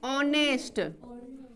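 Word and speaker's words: honest: लेकिन ये H silent रहेगा, ये एच क्या रहेगा?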